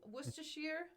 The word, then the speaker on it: Worcestershire: so you mentioned that it's not it's sheer not shire so if i say worcestershire is that white bedfordshire buckinghamshire that's how you say it it's not shire you americans do not